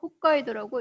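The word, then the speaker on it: 北海道: 그 다음에 이제 한국에 또 많이 알려져 있는 것 중에 하나가 가장 북쪽에 있는 이곳을 홋카이도, 한자로 북해도라고 쓰고 홋카이도라고 있습니다.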